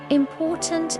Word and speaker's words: important: Important. Important. The stress is on the second syllable.